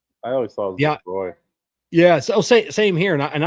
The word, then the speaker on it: LaCroix: It is pronounced LaCroix.